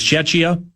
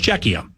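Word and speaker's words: Czechia: It was Chetchia, then it was Shesia, and now it's Czecha. So Matzko said it right. Czecha.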